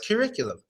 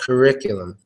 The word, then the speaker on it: curriculum: curriculum curriculum and yeah this one might be tough because the stress is on the the stretches distress is on the ear so its curriculum curriculum so yeah you gotta learn to do that hit sound it's similar to rim or even the name Rick there's some people with